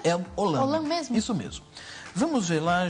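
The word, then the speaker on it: El Olam: El olan como é que é que se pronuncia el olan isso mesmo vamos ver lá Gênesis 2133 uhum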